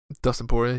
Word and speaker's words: Dustin Poirier: Dustin Poirier.